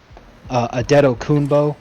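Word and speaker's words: Adetokunbo: now which is and no one knows where the the M came from but a dedo kunbo is a little bit easier to pronounce and when you think about it that sounds a lot more like what the actual announcers say when they have to say his last name and technically not wrong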